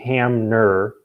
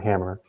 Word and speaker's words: Hamner: more transcription thing so it's kohli hamner not hammer and it's alitha martinez